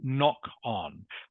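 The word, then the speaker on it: knock-on: The K at the beginning of the word is silent.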